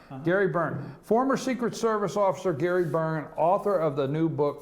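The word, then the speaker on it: Byrne: uh Byron, Byron, what's how do you pronounce his name there, Ralph? How do you spell it? B Y R N E Burn. Burn is it? Burn, right? Yeah.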